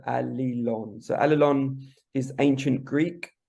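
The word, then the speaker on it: Allilon: of look at it so it's a-l-l-i-l-o-n so Ali Lon so alalon is ancient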